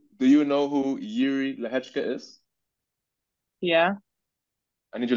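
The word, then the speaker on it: Lehecka: Way, it's spelled L-E-H-E-C-K-A. Lehechka.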